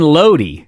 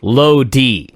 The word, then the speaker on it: Lodi: Well, Lodi is a city. It's not Lodi, it's Lodi.